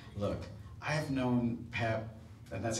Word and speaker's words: Peep: like, look, I've known Pep, and that's how you pronounce it, his name is not Peep, it's spelled Peep, but he doesn't like when you call him that, so it's Pep, all right?